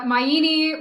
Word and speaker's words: Maini: correctly uh very close it's like uh mayini rhymes with linguine yup yeah okay yeah